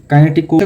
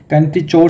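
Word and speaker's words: kinetochore: काइनेटिक कोर, कुछ लोग इसको काइनेटिक कोर ऐसे प्रोनाउंस करते हैं और कुछ लोग जो हैं इसकी प्रोनाउंसिएशन काइनेटिचोर से करते हैं, तो आप इसकी प्रोनाउंसिएशन देख लीजिएगा।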